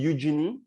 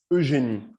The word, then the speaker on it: Eugénie: Eugénie. Is that correct? If I say it for English speaker, that would be Eugénie. If I say it the French way, it's Eugénie.